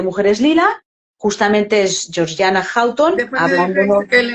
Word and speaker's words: Houghton: Pronuncia Houghton. Hay gente que lo dice Houghton, pero No, es Houghton.